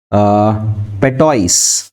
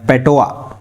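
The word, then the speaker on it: patois: Historically been considered a form of पेटोइस या पेटोआ, ये S silent है।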